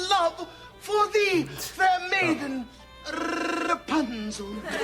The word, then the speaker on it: Rapunzel: Rapunzel. Rapunzel. You gotta roll your R's. Rapunzel.